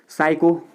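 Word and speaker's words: psycho: पर T silent है ऐसे आपने लिखा साइको साइको तो यहां पर आप पढ़ सकें लेकिन शुरुआत पिसे हो रही है तो पीस आइलैंड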